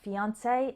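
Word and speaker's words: fiancé: it's a cliche fiance two more words that end in this a sound are fiance and fiance they're spelled differently but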